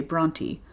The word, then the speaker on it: Brontë: In Yorkshire, they say Bronty, so that's how I'll refer to them. See those two little dots over the E? That's called a diaryus. And it tells you to pronounce the E separately.